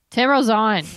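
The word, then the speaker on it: Tim Rozon: of this guy or not but his name's Tim rosan is that how you say it Tim rosan yes Tim rosan Rosen he was on a show called wona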